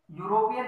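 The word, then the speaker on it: European: तो यूरोपियन देखो, ई क्या है, वावल है, साउंड कैसी दे रहा है, यू की, ई तो साइलेंट हो जाता है, यू से बोला जाता है, तो क्या आ जाएगा, ए।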